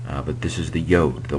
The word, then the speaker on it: yod: but this is the yod the Y and it is kind of like an apostrophe um in in Hebrew and it transliterates as a y and is pronounced like